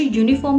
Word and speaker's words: uniform: तो जो यूनिफॉर्म का फर्स्ट अल्फाबेट है यू यानी कि अ, यूनिफॉर्म, यूनिफॉर्म। तो यूनिफॉर्म का फर्स्ट अल्फाबेट है य, इसका साउंड य आता है। लिखते वक्त हम यू जरूर लिखते हैं जो वॉवल में होता है, लेकिन जब हम साउंड क्रिएट करते हैं तो वो य आता है, य, यूनिफॉर्म।